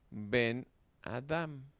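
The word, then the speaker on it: בֶּן־אָדָם: Por ejemplo, ven Adam. Ven Adam. Sí. En el ejemplo anterior, las palabras ven Adam juntas significan hijo de hombre con el Maquef. El acento se desplaza de Ben a Adam y resulta resultando en la sílaba cerrada yona.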